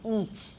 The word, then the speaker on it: each: write this down because almost everybody says itch in taiwan it's each it's long e each each each of